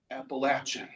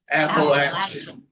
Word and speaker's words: Appalachian: Appalachin. Can you all say that with me? Appalachin.